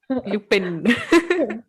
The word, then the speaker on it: Lupin: Lupin ना, मतलब उसको Lupin ना, वो हाँ, मतलब I am using the French pronunciation, but if I have to Indianize it, Lupin. Lupin.